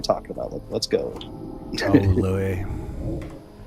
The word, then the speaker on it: Louis: It's funny that his name is spelled like that, and you got like Louis C.K. Right. But I always call him Lewis because, I think that's what he calls himself, right? But they're spelled like the same, so how would you ever know?